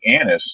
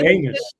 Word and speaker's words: anise: How do you pronounce that again? Anise. ANISE. Is that right? Anise. You say anus.